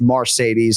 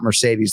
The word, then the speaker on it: Marcedes: it is indeed pronounced marcedes and not Mercedes like the Benz is that right correct